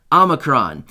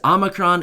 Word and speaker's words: omicron: covet variant called omicron i've actually heard it pronounced a couple different ways omicron and omicron but i'm going to go with omicron because that's what seems to make the most sense to me all right so as